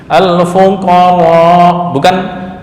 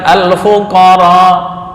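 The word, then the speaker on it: الفقراء: Al-fuqar, bukan al-fuqaro. Al-fuqar.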